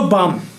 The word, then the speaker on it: balm: तो बाम, ए और एम के बीच का ए अक्सर साइलेंट हो जाता है।